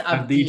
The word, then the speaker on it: Avdija: The Bulls, I'm going to go Denny Avdija. Is that how to say it? I think it's Avdija. Avdija. Yeah, Avdija. Yeah, I think it's a soft J.